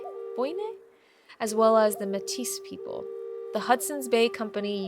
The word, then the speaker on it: Métis: And thank you for the pronunciation correction. Métis.